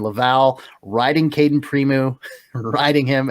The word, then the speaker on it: Laval: and Springfield dual goalies, and Laval, of course, or Laval. I've been pronouncing it wrong this whole time. Laval riding Caden Primeau, riding him and riding him and riding him some more.